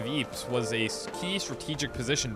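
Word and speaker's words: Ypres: a town and ruins dubbed wipers by British troops due to its difficult pronunciation the Belgian town of Eeps was a key strategic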